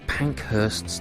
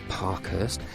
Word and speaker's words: Pankhurst: bye bye full disclosure I mispronounced Emily or Emeline pankhurst's name it's not Parkhurst Emily Pankhurst never met